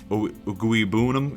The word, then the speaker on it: Okwuegbunam: They already have Albert Okwuegbunam, which apparently Okwuegbunam is the proper way of pronouncing that, so I do apologize for mispronouncing that for so long.